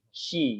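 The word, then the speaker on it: し: Bukan C tapi SHI, she gitu ya.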